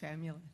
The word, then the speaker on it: Famula: Please, you'll correct my pronunciation if need be, and thank you. Yeah, it's Famula.